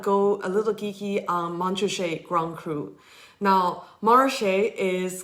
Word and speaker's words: Montrachet: it the French way, you just get rid of both T's and you pronounce it Montrachet.